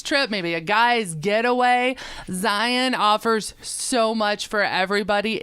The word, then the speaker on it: Zion: It's not Zion National Park. It's Zion. Zion. You got is it. how it's pronounced.